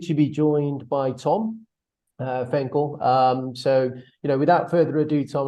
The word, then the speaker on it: Fencl: It's Fencl, by the way, rhymes with pencil.